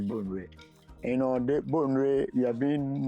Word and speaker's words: Bonwire: The name of the town is called Bonwire, but when you look at the spellings, you may be tempted to mention Bonwire, but the right pronunciation is Bonwire.